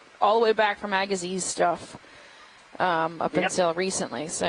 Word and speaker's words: Agassiz: the Atlantic, you'll find animals named after Louis Agassiz. Yes. So if you have something that has that weird name, it's pronounced as Agassiz. Neolithotes Agassiz. Correct. Something like that. Right, and we're in the Agassiz Valley right now.